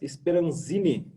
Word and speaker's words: Speranzin: Estamos aqui hoje com o nosso convidado especial da Bicred, Lucas Speranzini. É isso? É assim que pronuncia?